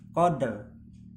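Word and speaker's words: قدر: ya jadi kayak ini lailatil Qadr ya Qadr enggak ro enggak RI tapi Qadr nah ini Apabila huruf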